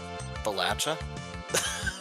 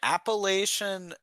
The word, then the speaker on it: Appalachia: It's Appalachia. It's Does like you throw an apple at you.